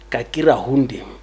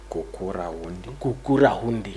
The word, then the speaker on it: Gukurahundi: Someone told me, please correct my pronunciation. Kakira Hundi. Kukura Hundi.